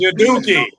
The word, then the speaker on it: Udoka: His name is Udoka. I would keep saying it until you say it right. It's Udoka.